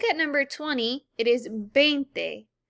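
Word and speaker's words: veinte: number 20 it is bente now remember the v is not a hard v like it is in english it is more of a b sound again it is not vente it is bente so now let's look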